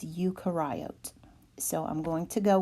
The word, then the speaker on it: eukaryote: oat you karai oat when I was younger I was told that that is eukaryote and dr. Burnett whom I have much respect for just said no ma'am that is incorrect it is Yuka riot so I'm going to